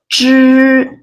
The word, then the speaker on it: 知: The first one is 知. It sounds like the letter GE in the word George. 知.